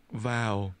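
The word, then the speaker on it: vào: wow wow wow wow this word is pronounced with a falling tone vow vow say it again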